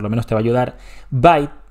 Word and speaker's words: byte: menos te va ayudar by se pronuncia igual que mordisco aunque mordiscos